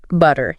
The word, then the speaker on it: butter: Butter, yeah. Americans say it. It often sounds more like butter. Oh, okay. Almost a D sound instead of a hard T.